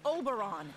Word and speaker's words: Oberon: never gonna happen you it's pronounced Oberon you know like always so